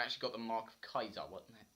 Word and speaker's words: Caesar: I only ran across them twice before I actually got the mark of Kaiser. I think it's spelt Caesar, but they pronounce it Kaiser.